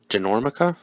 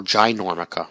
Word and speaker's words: Ginormica: she also goes by genormica was that how they i don't remember that how that that's not the way they pronounced it in the movie wasn't oh ginormica right jesus um anyway yeah